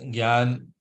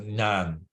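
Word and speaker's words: jnana: Pratipa say so yeah so Shriil praad pronounced gan the way I'm pronouncing it gan uh some people who are very uh particular and are uh deep into Sanskrit they might pronounce it as nyan nyan right so neither one is wrong uh but praad what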